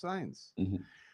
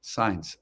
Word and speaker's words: Sainz: I can never say his name right. Why can't I remember it? It's Sainz. Signs.